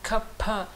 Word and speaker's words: Kapha: Donc si vous voulez prononcer le Kapha de façon correcte, c'est pas Kapha. Le F, c'est avec la lèvre et le dent. Alors que le P, c'est les deux lèvres ensemble.